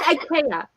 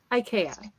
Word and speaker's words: IKEA: Ikea instead of Ikea Ikea nuh uhuh wrong for a guy who was from Germany and he was in Ikea and that is tradition that is the correct Swedish pronunciation of it and so I'm talking